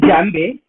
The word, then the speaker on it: djembe: So this thing today I have in my front, this is called djembe. This is an African instrument. We spell it as djembe, but the spelling is D-J-E-M-B-E.